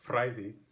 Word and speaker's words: fræði: As a fun side note, this becomes modern Icelandic fræði, because the /o and ash merge in Icelandic as a vowel pronounced I and still written as ash.